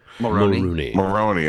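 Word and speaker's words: Mulroney: I never know how to pronounce his name. Maroney.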